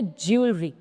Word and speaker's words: jewelry: ज्वेलरी, तो जो इसमें डब्ल्यू की साउंड है वो व के सेंस में नहीं आती है, वो यू के सेंस में आती है। सो सही प्रोनाउंसिएशन है ज्वेलरी।